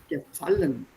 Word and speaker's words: gefallen: See, the stress is on verb. Not gefallen, gefallen.